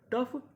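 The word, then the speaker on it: tough: Laughter, कफ, रफली, daughter, टफ, थ्रू। यानी कुछ जगह हमें यूजीएच का उच्चारण करना होता है और कुछ जगह ये हमारा साइलेंट रहता है।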